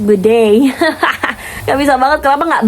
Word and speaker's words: bidet: Oh, gue baru tahu lagi kalau bidet tuh bacanya dalam bahasa Inggris bidet.